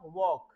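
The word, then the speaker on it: walk: एल के होता है एल साइलेंट होता है उसमें एल बोला स्पेलिंग तो पढ़ेंगे हम डब्लू ए एल के लेकिन बोलेंगे क्या वॉक क्या बोलेंगे ऐसे ही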